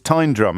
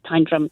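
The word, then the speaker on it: Tyndrum: correcting my pronunciation it's time drum isn't it it is time drum yeah the um the locals and there are there aren't many locals but they definitely say tyne drum and and it means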